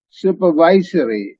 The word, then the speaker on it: supervisory: அதை கிளிக் பண்ணா related to having supervision, supervisory, supervisory, supervisory, supervisory, supervisory, supervisory. Okay, and இந்த syllable தான் stress பண்ணுவோம்.